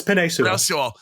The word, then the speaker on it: Penei Sewell: But they also had Penei Sewell on the – I don't know how to pronounce his name wrong. Yeah, it's Penei Sewell.